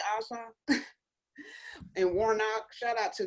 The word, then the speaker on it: Ossoff: Is it Ossoff? Is that how you pronounce it? Yeah, and make sure you do your job, Democrats. They say Ossoff.